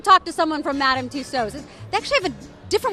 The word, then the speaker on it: Tussauds: I say Madame Tussauds, that's because I'm from the UK, but I mean... Two swords, like two swords?